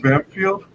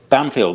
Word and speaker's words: Bampfylde: Is your last name pronounced Bamfield? Bamfield. That's right. You're probably one of the first people to get that right first time.